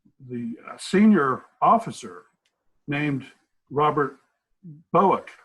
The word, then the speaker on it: Bouck: senior officer named Robert Bowick, I believe the name is pronounced Bouck, who had been the head of what was called the Protective Research Services, a division of the Secret Service.